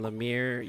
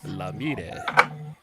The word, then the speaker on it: Lemire: Lemire, Canadian, Lemire, U.S., Lemire. You gotta be more aggressive with the American versions.